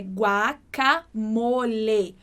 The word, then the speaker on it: guacamole: Então, igual no português, né, que a gente fala guacamole e a gente troca o E do final por I, em espanhol isso não acontece. Por isso que a pronúncia correta é guacamole. Mole. Com esse som bem fechadinho.